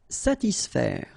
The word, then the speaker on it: satisfaire: profiter, calmer, satisfaire. Okay, so satis, and then remember A and E together will produce the sound E, so faire, satisfaire, satisfaire.